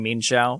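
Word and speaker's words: Mienshao: they were suspect testing mean shao which is how you pronounce it in um in but this is current mean that's how you pronounce it yeah i mean it's two syllables mean shall i i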